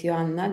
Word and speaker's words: Joanna: already know my name is my name is Johanna this is actually how you pronounce my name in my English in my